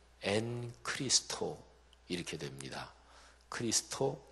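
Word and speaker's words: ἐν Χριστῷ: 그래서 그 헬라어로 발음하면 엔 크리스토 이렇게 됩니다.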